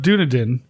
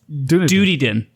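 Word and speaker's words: Dunedin: The city of Dunadin is like the dunadin. No, no, you're saying it wrong. The duden duden, right? Duty duden.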